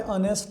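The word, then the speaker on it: honest: देखें इसमें, देखें हाउस है, एच पढ़ा जा रहा है, तो यहाँ पे आएगा आ। यहाँ पे ऑनेस्ट है, एच नहीं पढ़ा जा रहा, साइलेंट है, तो यहाँ पे क्या आएगा?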